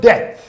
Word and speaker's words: debt: The word debt.